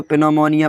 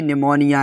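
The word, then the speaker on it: pneumonia: जैसे बहुत सारे बच्चे इसको पिनोमोनिया पढ़ने लगते हैं। तो पिनमोनिया नहीं होता। ये निमोनिया है।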